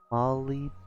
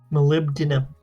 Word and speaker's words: molybdenum: For some reason, we can't just put B and D together. There's gotta be something in between. It's a very hard sound to make. Molybdenum. Molybdenum.